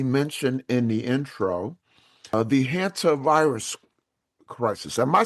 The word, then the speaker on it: hantavirus: Let's shift gears and talk about what we mentioned in the intro, the hantavirus crisis. Am I saying it right? Yes, the Okay. hantavirus.